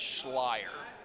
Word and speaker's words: Scher: using the incorrect pronunciation we can no longer call Kellen the Slayer Slayer because it doesn't rhyme the last name is Scher so what do you